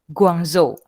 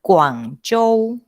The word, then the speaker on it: Guangzhou: Guangzhou. Pelafalan yang benar adalah G seperti huruf K dan Z seperti huruf C. Jadi pelafalan Guangzhou yang benar adalah Guangzhou.